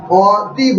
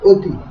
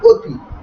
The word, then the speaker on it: অতি: আমি অ বলার সময় অ বলছি, কিন্তু যখন আমি এই অ এর সঙ্গে লিখছি তি, তখন অতি বলছি না, বলছি অতি। অতি বলছি না, বলছি অতি।